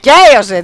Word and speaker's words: Chaos: Ναι, Chaos διαβάζεται αυτό. Α, σαν γκέι ρε. Πες το και έτσι, αλλά λες ποτέ τη χημεία chemistry? Όχι. Chemistry τι λες. Οπότε το CH διαβάζεται Q.